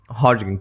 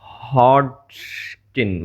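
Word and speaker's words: Hodgkin: Tricky, Mrs Pomfrey, हॉटकिंग या फिर ये हॉटकिंग, सॉरी इट्स हॉटकिन।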